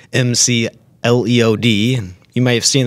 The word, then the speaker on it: McLeod: that I pronounce some Laclede just remember that rhymes with lead McLean lead in sanitary